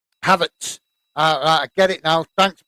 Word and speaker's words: Havertz: Havertz.